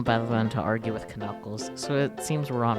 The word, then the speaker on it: Knuckles: Of course it's Knuckles.